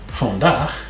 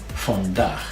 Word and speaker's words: vandaag: Vandaag, spelled just a little bit differently. Vandaag means today. Remember to pronounce your double A, not aw. So, vandaag, and pronounce your V like an F.